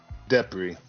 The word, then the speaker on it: DePrez: It's DePrez is how I.